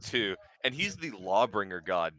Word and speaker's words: Tyr: I'm trying to remember the god Tyr. of Tyr. There's a symbol of Tyr. Although it's pronounced two, and he's the lawbringer god too.